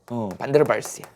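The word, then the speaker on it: van der Waals: 뭐라고 읽어요? 반데르발스야.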